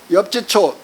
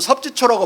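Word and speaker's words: 葉志超: 이 강자가 이제 원세계를 지휘하는 사람이 있는데, 원세계의 보고를 받고 엽지초 또는 섭지초라고도 읽어도 상관없습니다. 엽지초 휘하에, 우리나라 사람들은 섭지초라고 많이 읽고 중국 사람들은 엽지초라고 읽어요.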